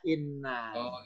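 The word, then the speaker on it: إِنَّ: Kalau ada illa, maka bacanya in. Ya. Kalau nggak ada illa, bacanya inna. Inna.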